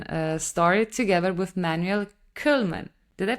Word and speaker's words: Koelman: pretty sure open uh story together with Manuel kman did I pronounce it correctly well in my home language which is which is Dutch you would say Manuel kulman kulman Manuel kulman yes good great in your in